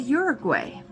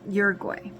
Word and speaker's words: Uruguay: So he knows all the pronunciations for Spanish, which I took French, and he says it's not pronounced like that. Uruguay. It's pronounced like Uruguay or something like that.